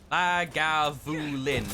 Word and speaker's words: Lagavulin: Lagavulin. So, thank you for the pronunciation help there, Dinagir.